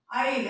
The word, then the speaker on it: Isle: This is pronounced as Isle. Isle is nothing but island here. Isle, S is silent here.